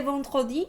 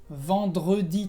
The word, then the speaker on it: vendredi: Pero ¿por qué en el caso de vendredi la E sí se pronuncia? Se pronuncia porque tienes dos consonantes antes de la E. Entonces, vendredi tienes que pronunciar la E porque si no, no sería posible pronunciar.